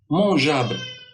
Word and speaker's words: mangeable: Et donc, j'ai placé le E entre le G et la voyelle pour obtenir toujours le son J.